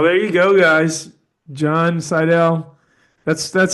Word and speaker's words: Seidl: John Cidell, that's that's how you pronounce the last name, right? Cidle there.